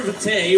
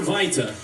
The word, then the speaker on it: Arbor Vitae: You know that is pronounced Vitae in the rest of the world, though, right? Oui. Just checking. It's Vitae. Arbor Vitae. That's like a redneck French pronunciation of it, just for the record.